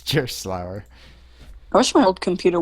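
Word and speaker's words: Gerstlauer: No, it's gonna be like the mispronunciation part. Yeah, it's Gerslauer.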